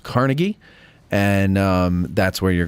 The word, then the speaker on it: Carnegie: of you who live outside of Pittsburgh it's pronounced Carnegie and um that's where you're going to want